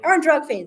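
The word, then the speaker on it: Ár nDraíocht Féin: Arndrug Fane, thank you very much.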